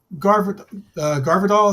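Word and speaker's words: Gvardiol: I primarily Garvidal is how you pronounce his name.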